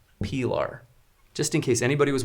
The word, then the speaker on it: Pilar: believe was from Spain so the knife is pronounced Pilar just in case anybody was wondering I I